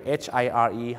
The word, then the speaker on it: hire: ฮะ Ti คำ ว่า จ้าง ก็ คือ H H I R E hire นะ ฮะ หรือ แม้ กระทั่ง คำ ว่า